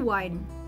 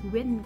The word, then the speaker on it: wind: Aku tuh ngira kalau angin, WIND, kan I kan bacanya kalau di Inggris I kan. Jadi aku kira tuh wine. Sedangkan kan it's wind kan, angin gitu.